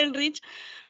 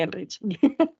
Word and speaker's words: Ehrlich: Pero si querés, estás en todo tu momento para charlarnos de Elrich. Dale, yo preparé una pequeña historia de Elrich. Creo que se pronuncia Ehrlich porque es alemán, Es alemán.